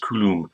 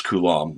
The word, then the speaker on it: Coulomb: i first saw that name i thought it's pronounced kulum and which is a really funny thing fun thing to say it kind of resonates in the nasal cavity but it's coulomb and he was a french researcher you know